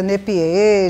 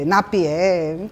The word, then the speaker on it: Napier: Apesar de vários áudios que eu escutei, né, sobre Nep, eu já vi a pronúncia nepier, já vi nep, Napier, mas eu chamo Nepper.